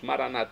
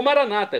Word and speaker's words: Maranata: como dizemos nós católicos maranat com a tônica na última sílaba ou Maranata como dizem nossos irmãos separados os evangélicos ou protestantes não importa pronúncia o significado é o mesmo vinde Senhor Jesus um